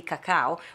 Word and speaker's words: cacao: because you speak british we say in italy cacao which is an italian